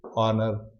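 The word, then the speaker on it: honour: के बाद जो साउंड, जो एच का साउंड वो आता ही नहीं है। जैसे ऑनर, रिस्पेक्ट देना, ऑनेस्टी या ऑनेस्ट, ईमानदारी, ईमानदार, आवर, घंटे की बात करते हैं हम, तो यहाँ पे एच साइलेंट हो जाता है।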